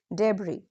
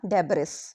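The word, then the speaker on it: debris: एस एल ई आईल डी ई बी इ आई आर आई एस डेबरी very common speaking mistake many students से Iceland या डेबिस but that is wrong the एस is silent so speak smoothly now students soil silent T is very common.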